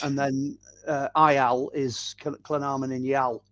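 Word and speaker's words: Llanarmon-yn-Iâl: And then IL is Llynarmon in Yal.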